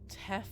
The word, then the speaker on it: Teph: I would have done that one, Connor, but you spelled Teph wrong. It's T-E-P-H. You know, like an F sound at the end. It's like Teph.